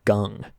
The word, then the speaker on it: Kang: there used to be a baseball player called Jung-Ho Gung, and it was spelled like Kang, like that. It was pronounced Gung.